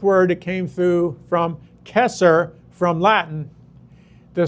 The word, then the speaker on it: Caesar: we hear it as Caesar like a Caesar salad and the Caesar dog joke I had the other week. But it was actually pronounced with a hard K. That's where we get Kaiser, Kesar.